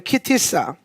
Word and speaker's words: כי תשא: 공동체가 되었으면 좋겠습니다 예 시 자 오늘 우리가 키티 싸 하는거예요 키티 싸 하면 어 발음 해볼까요 키티 싸 예 자 키 싸 아 아 아 예